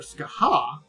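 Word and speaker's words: Scáthach: Oh there skaha. Ow. I would not have thought they were pronounced that way.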